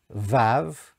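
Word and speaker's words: ו: So you have the letter below, which is pronounced Yud, the letter below pronounced He, the letter below which is pronounced Vav, and back to the He.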